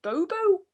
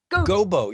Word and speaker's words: Gobo: saying his name wrong is it bobo fraggle infrared gobo yeah that's good in front of the